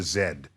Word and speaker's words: Z: And so they get they pronounce it in the way that the British say our letter Z. So it's called the W and the zed particle.